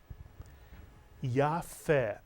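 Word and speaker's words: יפה: and in this word the pay does not have a dog a shin it's pronounced as the English letter F and the word is Yaffa Mitsuyo it means beautiful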